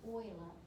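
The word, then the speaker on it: Euler: named after this guy i can't say his name without having some kind of northern yankee accent so i'll tell you it's oil oil number that's what this is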